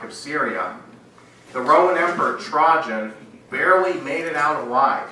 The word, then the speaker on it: Trajan: Now, the year after the death of the Parthian emperor Mithridates IV, the Roman emperor Trajan, that's how you pronounce it, broke the Roman-Parthian peace treaty.